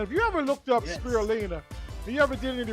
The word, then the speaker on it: spirulina: benefits of what's called spirulina is how you pronounce it we're going to take a look at this video on spirulina and then we're going to dive into it